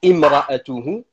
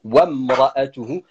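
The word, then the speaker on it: امرأته: Alors vous entendez quand je suis en train de le prononcer, je dis imra'atuhu et pourtant en fait quand on lit le verset on dit wamra'atuhu passant du waw à la lettre mim.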